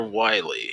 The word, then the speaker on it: Wily: And there's Dr. Wheel, but he's not Dr. Wily. Yeah. It's the German pronunciation of the German.